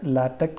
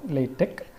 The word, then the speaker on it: LaTeX: It's technically correct to pronounce it as either LaTeX or LaTeX, and it is used